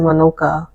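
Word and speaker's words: Monaka: a k a but they pronounce it monoka with the O and the a reversed oh I see so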